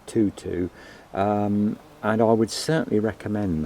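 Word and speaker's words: Toto: But this is Rudbeckia, called Tutu, T-O-T-O, and I presume you pronounce that Tutu, and I would certainly recommend that.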